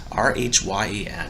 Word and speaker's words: Rhyan: It's RHYAN. I think it's spelled Ryan, but he's an offensive lineman.